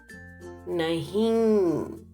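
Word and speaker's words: नहीं: No or not is nahi. Observe the nasal sound nahi. Underline N, not to be pronounced, only indicating nasal sound. Nahi.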